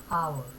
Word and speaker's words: hour: that's who you are though there is the accelerator consuming later but the pronunciation starts from hour an hour ah orange